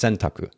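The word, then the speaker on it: 選択: Japanese tattoo for Choice the word is sentaku it's pronounced sentaku um I I think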